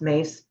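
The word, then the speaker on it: Myss: um M SSS my SS spell but it's pronounced mace and I watched her in the early years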